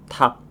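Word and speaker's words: 닭: Ops opsochim berikutnya ada kombinasi dari real dan giok di mana saat bertemu dengan huruf konsonan atau real dan giak ini berada paling akhir maka yang akan dibaca adalah huruf gioknya saja. Misal ayam bahasa Koreanya yaitu tak.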